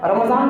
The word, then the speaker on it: رمضان: جو بتا دیا تھا رمضان بولنا، رمضان نہیں اور رمضان بھی نہیں. کیلنڈروں کے اندر لکھ رہتا ہے RAMA بول کر، ڈی نہیں وہ زڈ لگانا.